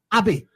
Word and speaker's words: Abi: It's got ABI. That's AB, but it was always pronounced Abby.